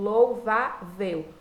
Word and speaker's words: louvável: Então, vejam, a palavra louvável termina em L. É paroxítona, quando eu observo louvável. Última sílaba, penúltima sílaba, por isso paroxítona, termina em L, leva a acentuação.